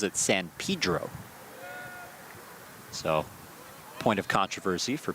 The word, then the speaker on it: San Pedro: San Pedro, California, though he pronounces it San Pedro.